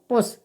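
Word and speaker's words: push: तो पी यू एस एच को हम क्या पढ़ेंगे, पुश।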